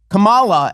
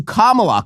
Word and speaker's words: Kamala: No, the wrong syllable. Oh my God, she called her Kamala as opposed to Kamala.